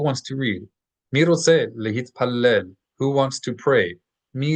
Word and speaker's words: להתפלל: So make sure that you pronounce the T's in Hebrew always. Lehit t, lehit pallel.